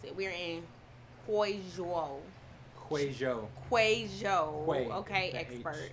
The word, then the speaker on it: Huizhou: We're in Huizhou. Okay, expert. It's the H. It sounds like a China. A Hui. And it is a resort